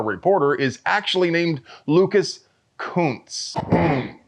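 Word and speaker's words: Kunce: is actually named Lucas Kuntz. Yeah, apparently that's how you pronounce it. I've been saying it that other way.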